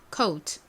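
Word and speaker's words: coat: 발음은 어떻게 한다라고 말씀드렸죠 여기 oa가 오우 발음이 나니까 코트가 아니라 coult coult 이렇게 발음됩니다 한번 따라해보세요 다음이 단어는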